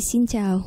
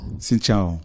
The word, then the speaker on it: Xin Chào: En général, on dit Xin Chào. Xin Chào. Voilà. Ah, donc j'ai bien prononcé, ouais.